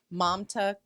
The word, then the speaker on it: Mamta: Mamta Kafle Bhatt is how I've heard her name pronounced.